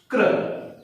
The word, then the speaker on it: क्रि: अब इसमें हमने लगाया तो ये हो गया क्र, और यहां पर री की लगी तो इसका उच्चारण क्या हुआ?